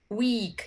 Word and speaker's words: week: This week is a long vowel, week, and wick is a short vowel.